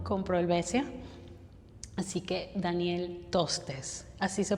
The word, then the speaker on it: Tostes: Así que Daniel Tostes, ¿así se pronuncia tu apellido?